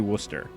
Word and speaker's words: Worcester: it's actually spelled wrong it's actually spelled like w o s t r so it's actually Worcester awesome oh yeah psychics